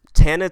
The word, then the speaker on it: Tana: It's Tana. Tana. Right. Tana is short for it's Tana, short for Montana. Montana. All right. My block is Montana Avenue. All right. Tana Talk 3, man, is